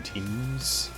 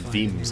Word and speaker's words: Thames: a much better model the name teams well it's not pronounced themes either but the River Thames I mean th has a sort of sound to it in a lot of cases go straight but yeah